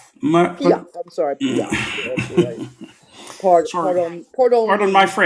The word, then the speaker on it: Piaf: Anyway, uh It's pronounced Edith Piaf. Yeah, I'm sorry. Piaf.